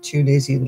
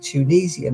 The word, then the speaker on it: Tunisian: If it's English, we pronounce it Tunisian, that's right. And if you're American, you pronounce it Tunisian, and that's right.